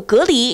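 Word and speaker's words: 蛤蜊: 都可以，但是常念到的蛤蜊就只有隔离是正确读音。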